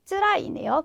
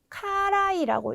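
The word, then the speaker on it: 辛い: 네, 다음은 쯔라이네요. 괴롭다. 근데 이거 같은 경우에는 네, 이거를 쯔라이라고 읽지 않으시고 네, 카라이라고 읽으시게 되면 이때는 맵다라고 하는 의미가 되잖아요.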